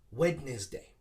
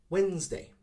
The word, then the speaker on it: Wednesday: i hear this a lot people often say wednesday wednesday again trying to pronounce every syllable but once again we do not pronounce every syllable again we make it shorter by saying wednesday similar to like a z sound zed sound